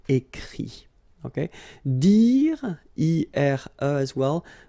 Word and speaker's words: écrit: Remember that even if you've got this final T, you don't pronounce it, so it goes like écrit.